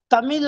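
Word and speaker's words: தமிழ்: देखिए, एक तो तमिल हम लोग कहते हैं, शुद्ध उच्चारण है तमिल, क्योंकि तमिल में उसका उच्चारण मैं नहीं करूंगा, जो तमिल का उच्चारण है 3 ला है, ला है, र है और रा जैसा उच्चारण होता है।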